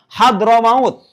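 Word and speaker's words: حضرموت: bersama tarkib jadi suatu nama sekaligus ada ketersusunan hadr maut hadr maut ibu kota yaman hadr maut itu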